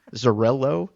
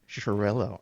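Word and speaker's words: Xarel·lo: I love hearing the grapes pronounced correctly because I've been Zarello is how I've always pronounced it, but that was nothing like you said it. So, no, it's like an sharel.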